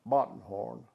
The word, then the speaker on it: Bottenhorn: a little town called bottenhorn they pronounce it button b-o-o-b-o-t-t-e-r-n they pronounce it button what course English we pronounce it buttonhorn and I was over